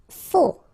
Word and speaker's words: faux: Faux, okay, final X not pronounced, then you get this AU together, O, faux.